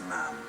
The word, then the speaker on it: ma'am: After that, it's ma'am. Rhymes with ham until you leave.